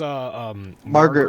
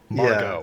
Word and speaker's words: Margot: I mean, he is saying it how her name is spelled, so I can't fault him for that. Wait, there's no R, is there? I don't know. No, there isn't. Looks like there's. It's just No, yeah, it's Margot.